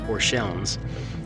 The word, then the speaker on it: Orscheln: see see right here it's spelt ORS CH e l NS not L ENS so really it should be pronounced or shellings but go to your